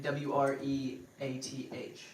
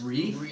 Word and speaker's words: wreath: with a w w it's WR like wreaking havoc wreath like w-r-e-a-t-h wow which I notice a lot of people spell wreaking havoc r-e-e-k no that's like smell bad that's yeah exactly but it's Reef isn't Reef no wreath you've been saying it wrong your whole life a hundred percent wow